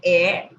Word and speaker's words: heir: Okay, an, are, okay, so though h is consonant but it pronounced like r, an honor, an heir, a house. House, H का pronunciation आ रहा है, that's why we have given here the article a.